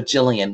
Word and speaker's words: Gillian: of my name because so jillian with a g and it's soft g so it's how do you say your first name jillian like a jay that's what i said i think jillian yes at the very very beginning you were saying gillian a lot but you know